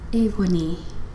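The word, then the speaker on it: Aoibhe Ní: I think she's from Ireland, and her name, it's spelled Aoibhe and then Ni. How do you say that? And she said her own name, and it sounded so precious. And it's Avoni.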